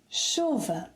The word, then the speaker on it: chuva: So here we have 'chuva'. The correct pronunciation is 'CHUva', with the stress on the 2nd syllable to the last, meaning that the final ‘a’ is unstressed.